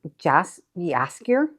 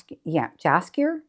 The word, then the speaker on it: Jaskier: named the bard Jaskier, which Jaskier, Jaskier, I think is how it's pronounced, which I liked.